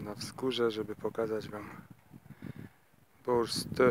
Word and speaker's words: Borstö: Podobnie jest z który na początku i przez cały film określali nazwą bor a potem Przyszło nam do głowy że może troszeczkę źle to wymawiamy i zapytaliśmy dwóch osób Finki z sąsiadującego jachtu ta powiedziała bur oraz wkładaj sobie podkładaj